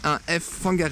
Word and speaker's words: Whangarei: kwh mais en maori quand ça s'écrit w/h on dit afp hangar est donc c'est pas ou anglaises font gare et du coup pas respect pour les maoris on le dit avec un f même si au début